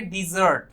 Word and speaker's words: desert: तो उसमें हम कहेंगे डिजर्ट। ठीक है, इसमें ध्यान से देखें, प्रोनाउंसिएशन की बात भी आ गई, DESERT, इसे प्रोनाउंस किया जाता है डेजर्ट, और इसका मतलब होता है मरुस्थल या रेगिस्तान।